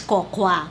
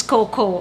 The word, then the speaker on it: Cocoa: tamang pronunciation ng Coco, ang pronunciation natin sa kanya is cocawa. Or I don't know baka Tagalog na pronunciation pero I will pronounce it as coco.